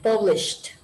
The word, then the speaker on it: published: Yes, remember the E is silent. Published.